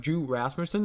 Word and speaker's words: Rasmussen: Except Drew Rasmussen, at least that is how you say his name.